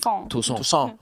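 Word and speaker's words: Toussaint: I wanted you to say it properly with the French accent. Yeah. Tucson. So the Haitian Revolution is fucking wild. Yo. Rhymes with croissant.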